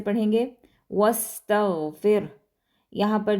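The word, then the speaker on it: واستغفره: और जो एंड पे हा है उसके ऊपर चूँकि हम वक्फ़ कर रहे हैं तो हम यहाँ पर इसको भी साइलेंट कर देंगे, लेकिन हमने इसको पढ़ना ज़रूर है, वस्तगफिर, ठीक है। हा जो है वो प्रोमिनेंट होना चाहिए आपके आवाज़ में कि आपने हा भी पढ़ा है, ठीक है।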